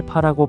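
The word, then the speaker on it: 八: 팔은 특별한 의미를 가집니다 중국어로 팔을 파라고 발음하는데이는 발전이나 재물을 의미하는 발제의 발과 발음이 같습니다 이때문에 은 중국인들이 팔을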